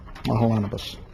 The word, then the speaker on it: Mahalanobis: india in here okay i always check on the pronunciation i think i remember this being the correct pronunciation from last year mahalanobis now this is the